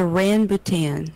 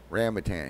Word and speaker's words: rambutan: Pronounce it. It is a rambutan. Okay. This is actual rambutan here.